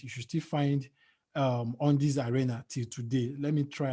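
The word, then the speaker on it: Undiez Arena: business and i named it on this arena on this arena on this spelt u-n-d-i-e-z arena there was a time facebook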